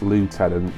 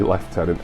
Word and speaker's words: lieutenant: I always assume it should be pronounced lieutenant because that's how the film's pronounced, but in the UK we're supposed to say left tenant.